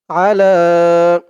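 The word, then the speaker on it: عَلَى: আসসালাতুস সালামু আসসালাতুস সালামু আলা আলা লা এখানে একটু টান হবে এক আলিফ টান হবে আলা আসসালাতুস সালামু আলা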